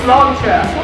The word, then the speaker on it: sláinte: If you have trouble remembering or pronouncing sláinte, all you have to do is say, it's a lawn chair, really quick.